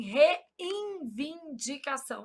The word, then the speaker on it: reivindicação: Só para eu gravar que não existe N aqui. Qual que é o problema? A gente nasaliza esse N pronúncia. a gente fala assim, reivindicação.